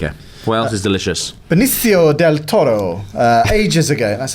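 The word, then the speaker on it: Benicio Del Toro: Benio Del Toro. Uh, ages ago, that's how you pronounce that.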